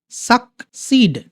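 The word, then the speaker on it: succeed: ওকে, এই যে দেখো সাকসিড। ওকে, এইটা হচ্ছে ক, এটা হচ্ছে স।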